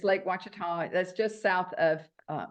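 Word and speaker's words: Ouachita: It starts with a O, but it's pronounced Wita. Oh, yeah. Yeah. Okay. I know. We have time. Yeah. Mhm. It's Lake Watita.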